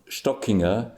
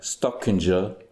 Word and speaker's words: Stockinger: Uh, Stockinger, Stockinger, like Kissinger in the States some time ago. Uh, Stockinger, it's pronounced Stockinger.